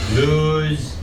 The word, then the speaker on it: lose: but in this case you just have to learn that it doesn't lose sounds like lose usually when we have that o e h like a garden hose hose hose nose loose z sound for this one okay don't lose